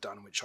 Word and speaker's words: Dunwich: that the dunwich horror pronounced done in short done which i hear pronounced both ways or inn's mouth from